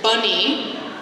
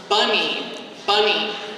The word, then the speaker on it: bunny: But if we look at the word bunny, like a rabbit, bunny, the first syllable is stressed. So that receives a symbol that is a full vowel symbol. It is not reduced.